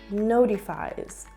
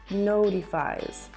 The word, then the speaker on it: notifies: notifies in American English often when a t is between vowels it is pronounced more like a D or D sound so what we hear here is notifies notifies listen again he manages